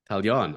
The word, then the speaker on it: Taillon: I've always wondered how do you pronounce his last name? Taillon.